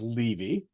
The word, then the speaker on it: Levy: Yeah, by the way, my last name is Levy.